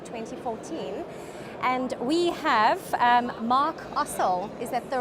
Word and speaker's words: Ossel: And we have Mark Ossel. Is that the right way to pronounce the surname?